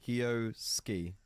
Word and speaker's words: Kyosuke: Just don't pronounce the U's. Look at it. No. Kyosuke.